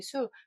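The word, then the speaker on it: 宿: 했는데 여기에서 중요한 부분은 별자리가 약간 발음이 바뀐다는 거 진 발음으로 하셨다면 신을 하셔야 되고 어 잠잘 쑥을 하셨다면 별자리 수 그래서 별자리가 우리 동양에서는 28수 하거든요 그래서 별이 펼쳐져 있는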